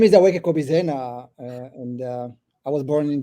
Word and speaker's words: Aweke Kobi Zena: So please welcome my guest, Aweke Kobi Zena. Did I pronounce it correctly?